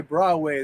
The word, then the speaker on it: Broadway: I know a lot of people that say Broadway. They don't even pronounce the D.